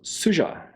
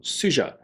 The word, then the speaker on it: Sugga: is the we knives suja and i see that's how you're supposed to pronounce it it's s-u-g-g-a with a soft g suja you certainly don't want to say suga in my country it